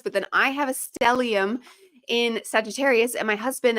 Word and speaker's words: stellium: I I always want to say it's stellennium, but I'm adding an extra letter and I know it. Stellium.